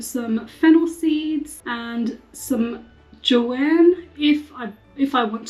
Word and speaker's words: chai: tomorrow so with chai It's J actually chai is like how you say it in Hindi but Punjabi I would say J I'm going to have